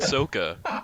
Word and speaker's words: Sokka: Ong and Yeah. Sokka, sir. Sokka. Pronounce them right. Yeah, I forgot, my bad. I forgot they messed up the names too. Ong and Sokka, because M.